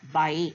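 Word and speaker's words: baik: சய சேஹாட் அல்லது சய பயே. அந்த கேயும் ப்ரொனவுன்ஸ் பண்ணக்கூடாது. பிஏஐ தான். சய பயே.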